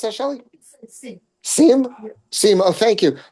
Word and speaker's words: Sejm: How do you pronounce that, Shelly? Sejm.